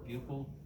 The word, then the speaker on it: buccal: I'm also looking to see if the buccal or buccal, depends on where you come from, how you pronounce it, mucosa is moist.